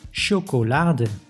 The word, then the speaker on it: chocolade: But it can also be pronounced as sh, like in chocolade.